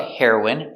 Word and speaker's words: heroin: The pronunciation is the same. The drug heroin and the person heroin.